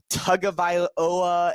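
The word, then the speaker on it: Tagovailoa: he pronounced it so it's it's to uh Tunga viola yeah sure I looked it up on the YouTube and it's on the internet his last name is tagoviloa it's tug of iloa it's like you know it's you some people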